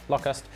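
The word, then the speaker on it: Lokhust: The R is silent in that, hence why it's Locust.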